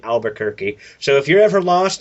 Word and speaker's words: Albuquerque: the guy who does American vampire um Raphael Albuquerque Albuquerque okay yes that that's what everyone pronounces his name Albuquerque so if you're ever lost think of Bug's